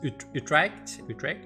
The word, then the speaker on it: Utrecht: Utrecht.